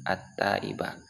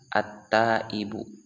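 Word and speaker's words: التائبُ: Nah, jika belum diharokati maka bisa saja kita membacanya at-taiba. Nah, jika diharokati seperti ini, at-taibu minadz dzambi kaman la dzambalah. Baik. Lalu bagaimana cara kita dapat membacanya secara benar sesuai dengan yang telah diatur oleh ahli nahwu, yaitu dengan membaca at-taibu.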